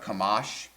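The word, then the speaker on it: חָמָס: It's pronounced kamash.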